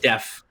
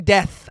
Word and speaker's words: deaf: Deaf. It's an F. Deaf. Yeah, deaf actors. You were saying death.